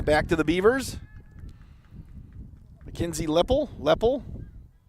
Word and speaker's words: Leppel: Mackenzie Leppel. Lapel, as they called her in Wanakee. The French pronunciation.